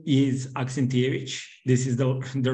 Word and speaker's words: Aksentijevic: So my last name is Aksentijevic. This is the right pronunciation.